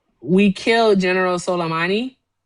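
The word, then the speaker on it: Soleimani: We killed General Solommani, right?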